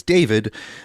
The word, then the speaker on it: D4VD: The the musical artist D4 VD, otherwise pronounced as David.